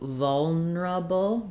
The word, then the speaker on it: vulnerable: ask about um so it looks like vulnerable um and you can say it that way that sounds like vulner uh first syllable stress on vol but people will often reduce it to vulnerable vulnerable where instead of norable they'll do kind of more like vol reduce it down to three syllables vulnerable so the neura